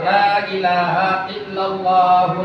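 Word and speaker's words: لا إله إلا الله: Akbar tapi napas dulu makanya kalau tahlil orangnya pintar lailahaillallahu lailahaillallahu itu wasol Tapi kalau napas Lailahaillallah Lailahaillallah napas dulu kan ada yang tahlil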